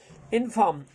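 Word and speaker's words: inform: इनफॉर्म, इनफॉर्म, इनफॉर्म में आप ध्यान रखना है, आर को साइलेंट टाइप में रखना है।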